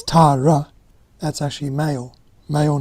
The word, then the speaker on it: Tara: Tara the female one it's actually Tara both vows are long Tara if it's Tara that's actually male male